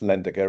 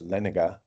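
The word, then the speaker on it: Lendager: And it's not actually pronounced Lendiger, it's Leniger.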